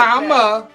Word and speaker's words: Kamala: Because you can't pronounce her name. Like that. No, it's not. But like Kamala.